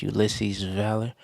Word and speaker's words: Ulysses Valor: That's pronounced Ulisses Valor.